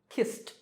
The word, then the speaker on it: kissed: Number five, the last sound is s, which is unvoiced or voiceless, so kissed, kissed.